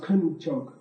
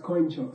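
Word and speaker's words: དཀོན་མཆོག: So it should have been pronounced kunchok. But just because of some historical accident, this single word is pronounced koinchok.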